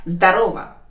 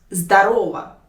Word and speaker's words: здорово: But in this word, you should notice the stress. It's very important. You should put the stress on the second syllable. Здорово, on the second letter O. In this case, this word will mean a greeting. But if you put the stress on the first syllable, like здорово, in this case, the meaning of this word will change. And the meaning will be wow, or nice, or well done.